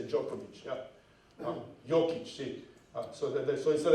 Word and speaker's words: Djokovic: See, the 2 letters D and J becomes J, so you say Djokovic.